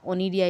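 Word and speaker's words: Conidia: सी इज़ a silent over here.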